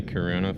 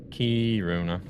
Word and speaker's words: Kiruna: I always found Americans say Karuna funny. Why do you guys say Karuna? Kiruna.